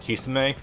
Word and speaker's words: Kisame: this at some point we went from pronounced eiki-sama his name is Keshawn we took kisame and objectively the latter is correct but it just doesn't